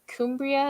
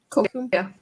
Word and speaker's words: Cumbria: Is it Cumbria? Is that how you say it? Cumbria.